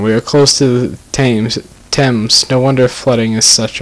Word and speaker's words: Thames: We are close to the Thames. No wonder flooding is such a risk. Say it really American, like the Thames.